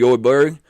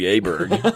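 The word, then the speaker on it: Åberg: But, again, I was early on Mr. Ludwig Elberg, which is apparently how you say his name. We were calling him Ludwig Aberg.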